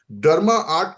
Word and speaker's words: DrMaArt: डर्मा आर्ट का मतलब है जहां पे स्पेलिंग आप देख रहे हो डी आर ए एम ए आर T that is called डर्मा आर्ट।